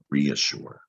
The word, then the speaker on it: reassure: This time you hear the E and the A. It's re, you hear long E, and that A is making that tricky, like a short U sound, reassure.